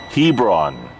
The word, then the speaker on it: Hebron: good evening greetings from HEB no got to pronounce this properly Hebron Indiana there we go Hebron Indiana local time